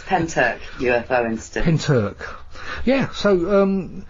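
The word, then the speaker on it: Pentyrch: pronounced isn't it the pentoc incident yes i've always pulled the pins here because of the way it's spilled you know you know us english yes indeed yeah it's pentec ufo instead yeah so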